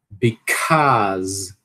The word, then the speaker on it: because: Because. Because. Dizer o azão longo, né? E o zazão no final. Local.